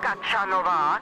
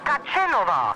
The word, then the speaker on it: Kačenová: You got my name wrong, it's Kačenová, not Kačanová.